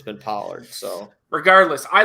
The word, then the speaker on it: Pollard: am I pronouncing that right polar Tony Pollard Pollard it's Pollard I got an argument on the Vegas Insider